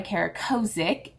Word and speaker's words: Kara Kozik: So yes, the mug is by Kara Kozik, is how you say her name.